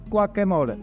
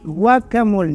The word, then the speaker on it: guacamole: the avocado fretch it's guaca how do you pronounce it gu guacamole guacamole guacamole what do you need for the guacamole